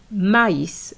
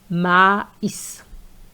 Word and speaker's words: maïs: So those two dots are there to tell you that you have to pronounce this letter, this I, separately. Hence maïs.